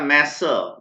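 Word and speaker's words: masseur: ध्यान से प्रोनाउंस कीजिएगा, मैसर।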